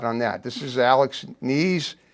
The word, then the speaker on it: Knies: This is Alex Knies. Knies with a K. The K is not silent.